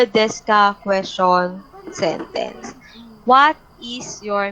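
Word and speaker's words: です: Yung desu ka, but it pronounced as desu ka, silent U. Okay? But some Japanese, desu, but I think it's des.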